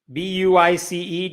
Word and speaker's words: Buice: Buice, Josh Buice. That rhymes with lice.